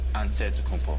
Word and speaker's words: Antetokounmpo: how you pronounce it way you gotta say with the d so it's a deadpool but in the greek way you say with the nt like antetokounmpo whatever you got just say